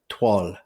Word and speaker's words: toile: It's spelled Toile, and it's pronounced something like toile, and it's a fabric.